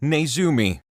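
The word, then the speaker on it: ネズミ: In this country's language, a mouse is pronounced Nezumi.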